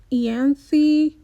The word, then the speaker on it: Ianthe: I'm just going to pronounce that TH. Ianthe, whatever. It's Ian and then THE.